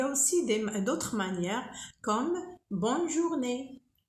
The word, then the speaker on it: bonne journée: Et il y a aussi d'autres manières comme bonne journée. Bonne journée. Ici, on prononce le N. Pourquoi? Parce qu'il y a deux N.